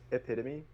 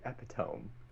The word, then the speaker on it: epitome: Anyway, my my word was epitome. I used to say epidome.